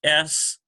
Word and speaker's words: Sheen: So then we get S-H-E-E-N. Sheen, it's softer because you got the H sound in there, so it's much softer.